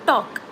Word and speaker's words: talk: Okay, for example, il nodi, talk, we don't say talk, we say talk. T is, or L is silent, right?